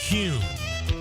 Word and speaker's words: Kuhn: And now I'm going to share the absolute right way to pronounce Kuhn flowers. It's Kuhn.